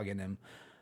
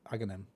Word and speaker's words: Aghanim: Before Aghanim, how do you guys pronounce it? Aghanim.